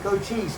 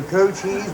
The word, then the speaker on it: Cochise: No, that is his name, Cochise. You know, whenever I say his name, some people always ask me if I'm saying goat cheese or co-cheese.